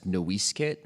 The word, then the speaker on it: Noisecat: it actually only became Noisecat because the missionaries wrote it down wrong. Um, so it's actually properly pronounced, I guess. Noiskit would be the way that the ancestral name was was said.